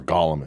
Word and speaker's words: golem: And even worse, a fucking demonic fucking Jewish automaton motherfucking golem. Or golem if you're Jewish pronouncing it.